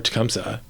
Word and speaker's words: Tecumseh: you have any memories involving a tumy or tumsa how do you pronounce it Tumi or tumsa okay so it's supposed to be